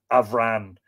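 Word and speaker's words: Bhran: Avran, because Bran, when you say Avran, would be lenited. So it would be a separate word, B-H-R-A-N, pronounced V-R-A-N.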